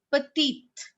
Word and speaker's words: petite: But when it will have E, we are going to pronounce it as étudiante, petite.